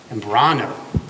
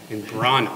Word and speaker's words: Imbrogno: Vincent, Foster Imbrogno, and how do you pronounce it? Imbrano. That's my cousin's son. Oh, good. That's your what? My cousin's son. So okay. Imbrano.